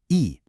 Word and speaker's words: へ: The particle hit is actually pronounced E.